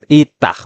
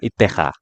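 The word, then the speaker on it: אִתָּהּ: Tiba-tiba di sini itah bukan itha. Itah ya. Oh bacanya itah. Itah ya tertulisnya itah memang dan dibacanya itah.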